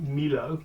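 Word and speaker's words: Millau: so we rode up from nice to Mio where the famous bridge is or some people might pronounce it Milo but it's pronounced Neo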